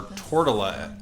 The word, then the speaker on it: Tortola Elder: got this guy our tortella elder i don't know why i thought it was torture oh my god i've been saying it wrong this whole time i